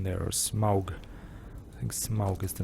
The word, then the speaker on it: Smaug: I think Smaug is the name. It's easy to pronounce in German. Like Smaug is just the way you would pronounce it in German.